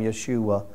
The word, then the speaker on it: Yeshua: We called him Yeshua, the same name that would have been the pronunciation of Joshua.